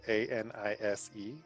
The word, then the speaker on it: anise: It's spelled A-N-I-S-E, and it's pronounced anise.